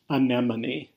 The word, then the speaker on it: anemone: you ready one anemone anemone is pronounced anemone as you can see that is not how it is spelled this also isn't a